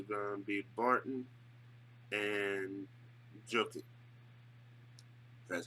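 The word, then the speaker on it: Jokić: But I would say for me, their two best players are going to be Barton and Jokic. That's how you pronounce his name.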